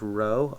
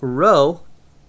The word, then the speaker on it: rho: symbol I have here this is Rho R each oh that's how you say it bro we did use this